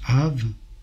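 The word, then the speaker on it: אב: Le père se prononce Av, la mère se prononce M.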